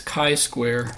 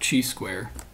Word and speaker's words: chi-square: Note it's chi-square, not chi-square. Hard C.